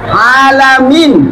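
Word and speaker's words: العالمين: puji menjadi segala kehancuran alamin itu alam semesta pakai Ain P Ain alamin tapi kalau jenan alamin pakai Hamzah artinya yang penyakitan yang berpenyakit atau orang yang penyakitan bayangkan kalau bacanya Imam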